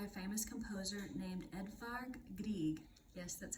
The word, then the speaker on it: Grieg: was written by a famous composer named Edvard Grieg yes that's how you say his name he